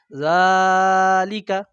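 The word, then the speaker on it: ذٰلِكَ: কেউ যদি সবগুলোতে টান দেয় জালিকাল এমন বলে তাহলে অশুদ্ধ হবে। শুদ্ধটা কি হবে? জালিকা। তাহলে যখন কোরআন মাজিদের সূরা বাকারার প্রথম শব্দে কি রয়েছে?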